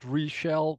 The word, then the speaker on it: Reshell: My name, this is how you pronounce it, Reshell, rhymes on seashell, that's how I remember it.